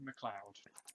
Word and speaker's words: McLeod: can't read, Jamie McLeod, It's pronounced McLeod.